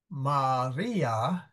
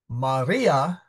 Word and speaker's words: Maria: Maria Mater Jesu est. So the important thing is that I is long, and since that is the second syllable, it is stressed.